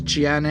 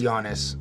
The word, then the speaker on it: Giannis: Anyway, I don't think it's Giannis. It's Giannis. I think that's a weird way to spell Giannis. So The G is silent.